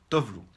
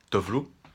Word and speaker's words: Tove Lo: Alors, je vais la prononcer à l'européenne, à la non suédoise, hein, à l'américaine aussi. Tovlo.